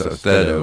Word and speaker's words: Austedo: So we need to say that Austedo, I want to pronounce it wrong for some reason, but it's Austedo, like steadiness of hand, which my hands are